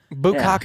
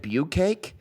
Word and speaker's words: bukkake: Bukkake me.